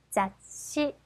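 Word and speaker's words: 雑誌: 자씨, 세 박자 자씨입니다. 써볼게요. 자, 그렇죠. 자, 이렇게 해서 자가 될 거고요. 뒤에 시가 왔네요. 그러면 그렇죠. 시 발음이 작은 츠 바로 앞 글자에 가서 받침이 되겠죠.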